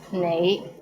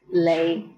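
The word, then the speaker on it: 你: is the word you the right way to pronounce it is nai but in hong kong many people pronounce it as lei how was it pretty interesting right do you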